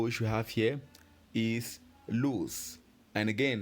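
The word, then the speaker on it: l'ours: we have here is loose. And again, how do we spell loose? As you can clearly see, loose is spelled L-O-U-R-S. O-U-R-S. Don't forget the L apostrophe. That's what we pronounce loose.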